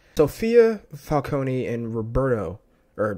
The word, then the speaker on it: Falcone: Why he was just what if Falcone or Falcone, I forgot they pronounce it Falcone in the movie.